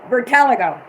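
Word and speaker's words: vitiligo: told me no i don't know how to pronounce this word desiree said it was v-i-t-i-l-i-g-o oh yeah bertalgo vertaligo that's what he's had that all in michael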